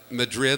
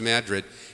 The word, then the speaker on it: Madrid: I walk into the Mine Shaft Tavern in Madrid, New Mexico, and it looks like it's like Madrid, like in Spain, except it's pronounced Madrid.